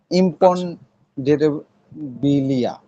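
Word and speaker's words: Imponderabilia: ইম্পনডেরেবিলিয়া। আপনি লিখে নিবেন ওই মানে শব্দ ওই যে এটা। না, তবে উচ্চারণটা এটারও, জানতে চাচ্ছিলাম আরকি।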